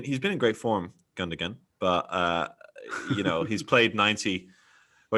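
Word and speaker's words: Gündoğan: Do you even pronounce the second G? I don't think you do. The second G. No, I think you do. I googled it, and there's a little mouth that appears, and actually shows you even how to position your own mouth. It's quite weird. So yeah, I believe you pronounce second G.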